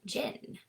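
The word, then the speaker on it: jinn: Arabic word of a jin. So that is J I N and you pronounce it with like a strong J and then you pull out the N.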